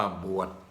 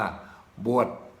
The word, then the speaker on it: บวช: เป็น อย่าง นี้ ครับ ใบ ไม้ สลัก กลัว จอ ช้าง สะกด อ่าน ว่า บวช บวช แต่ ชาว ปักษ์ ใต้ จะ ออก แสง กัน นี้ ว่า บวช บวช คำ ว่า ว่า